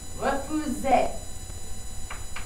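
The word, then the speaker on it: refusent: This is still pronounced refuse. A lot of English speakers really want to pronounce this ENT at the end, but you don't. It's just refuse.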